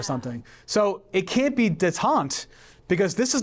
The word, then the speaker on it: détente: It's pronounced détente, and it means, Like famine.